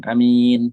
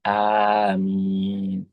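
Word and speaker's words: آمين: Jadi sebagiannya yang bagus adalah ee bukan kemudian amin gitu ya amin tapi aamin jadi alifnya panjang terus mimnya juga pan panjang aamin nah ini ya yang perlu banyak nih ketika kita tahu misal orang-orang bacanya adalah amin padahal harusnya aamin gitu ya itu yang panjang gitu nah wahuwa makna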